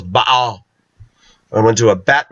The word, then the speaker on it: Baal: Actually, the proper pronunciation of Baal is Baal.